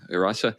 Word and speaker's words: Hrossa: The Hrossa, yeah. Rasa. And then we have the unpronounceable group, which is like moles who are really skillful at making things.